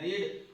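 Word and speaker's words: read: कहते हैं रीड, और रीड की थर्ड फॉर्म जो रहती है वो रेड होती है। मीनिंग सेम रहती है लेकिन इसका उच्चारण चेंज हो जाता है, रेड के नाम से इसे पढ़ा जाता है।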